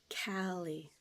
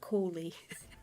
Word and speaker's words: Callie: Okay, yeah, I can see how it is like pronounced Callie, not Coley.